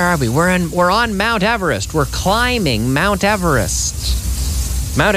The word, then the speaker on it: Everest: Now we don't say eber. No, we say ever. Mount Everest. And here we are. Where are we? We're on Mount Everest.